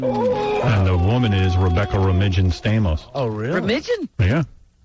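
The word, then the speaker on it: Romijn: the woman is rebecca romigan stamos oh really permission yeah that's the proper pronunciation she's on the cover some magazine right now premiere rebecca romain's name r-o-m-i-j-n how do you get romaina yeah right yeah she's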